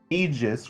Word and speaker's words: Aegis: want to pronounce it hey that ain't silent aegis robotics y'all want to pronounce the a they'll be joined with